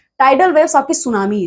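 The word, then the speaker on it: tsunami: सी the tidal और स्टम waves are also called सुनामी। ठीक है? तो सुनामी में टी जो वर्ड है वो साइलेंट है।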